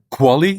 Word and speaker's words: QALY: Um, in fact, the famous quali, so quality adjusted life years, uh, we pronounce it as the quali.